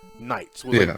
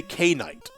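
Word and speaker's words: knights: a sound like night nights the k is supposed to be silent but it's like but you know when you're a kid you don't get that so you say k-night yeah kate said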